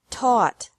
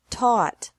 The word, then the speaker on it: taught: Teach, taught, taught. Think, thought, thought. Remember that the G is silent in these verbs.